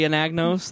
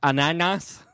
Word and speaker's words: Anagnos: You don't pronounce the G. What's wrong with you? So it's Anagnos.